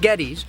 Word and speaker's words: Geddes: Not Geddes, but Geddes.